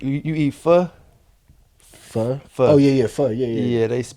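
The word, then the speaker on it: pho: But but like you eat fu fu fu. Oh yeah. Yeah. F. Yeah. Yeah. Yeah. They spell it ph h o like o. But it's f.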